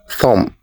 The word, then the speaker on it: thumb: as thumb or thumb the correct pronunciation is thumb the B is the silent letter in this word so we say thumb next do you pronounce this